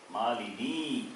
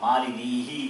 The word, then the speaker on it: Malini: Mama Nama Malini. Not Malinihi. You cannot say.